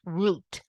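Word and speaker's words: רות: was this Moab woman in Hebrew it's pronounced root Ru T in the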